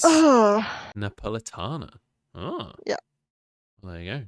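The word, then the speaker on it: napoletana: i apologize vash for not having the correct pronunciation of the pizza it's napolitana oh yeah there you go learn something new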